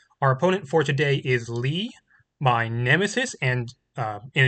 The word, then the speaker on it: Lih: Uh, by the way, I I may have referred to my opponent, my nemesis here as Leia before. Um, but but their name, their username is actually pronounced Lee.